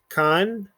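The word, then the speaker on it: כאן: We have Kur, Kan. Notice the Aleph is silent. Kan, Kush, Kara, Kama.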